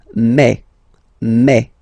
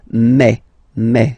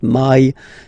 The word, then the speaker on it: mai: So really open e, okay, and then you pronounce it me. Okay, so don't pronounce I, don't try to pronounce it. No, it's me. So it's not my, it's me.